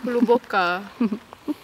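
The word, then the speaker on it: Hluboká: How would you pronounce it, Zoe? Name? Castle. Hluboka.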